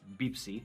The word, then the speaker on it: Pepsi: those albums so okay officially pepsi we say beepsie because it's a b we don't have a p pepsi but of course we also say pepsi right sure but then